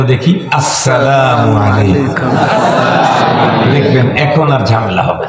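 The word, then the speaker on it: السلام عليكم: সালামের সময় শুরুর হামজাকে স্পষ্ট উচ্চারণ করেই সালাম দিতে হবে আসসালামু আলাইকুম বলেন আসসালামু আলাইকুম এই আস্থাটাকে সুন্দর করার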